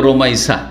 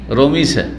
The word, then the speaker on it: রোমাইসা: আমাদের দেশের লোকেরা নামগুলো অনেক বিকৃত করে, অনেক নামকেই কি করে, শুদ্ধভাবে উচ্চারণ করেন না। যেমন রোকাইয়াকে রোকিয়া রোকিয়া করে না, কি করে, হ্যাঁ রোকিয়া, ওই রকম রোমাইসাকে রমিসা, তাই না, বিকৃত নাম রোমাইসা।